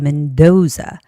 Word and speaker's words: Mendoza: The name has the second syllable stress. So it's got to be Mendoza.